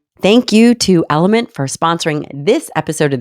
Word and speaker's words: LMNT: thank you to element for sponsoring this episode of the show it is spelled lmnt and pronounced element you guys have heard